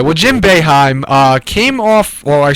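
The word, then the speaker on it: Boeheim: Jim bohim beheim beheim there we go Jim beheim I've heard it say he's the second most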